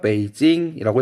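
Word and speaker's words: 北京: A, 베이징입니다. 북경. 한자로는 얘가 북경이고요. 얘를 중국어로 읽으면 베이징이라고 읽어요. B, B는 상하이입니다.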